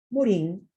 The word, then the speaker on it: Morin: decir mantienen su identidad morin se pronuncia morán en francés amplía este concepto ojo